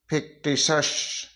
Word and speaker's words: fictitious: इसी तरीके से FICTITIOUS, फिक्टिशस। इस तरीके से टी के बाद में IO आता है तो हम टी को श पढ़ते हैं।